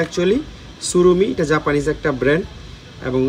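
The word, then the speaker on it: Tsurumi: যে সুরুমি এটা কিন্তু টি সুরুমি না উচ্চারণটা একচুয়ালি সুরুমি এটা জাপানিজ একটা ব্র্যান্ড এবং এবং এই সুরুমিতে টি এর উচ্চারণটা হয় না এখানে মেড ইন তাইওয়ান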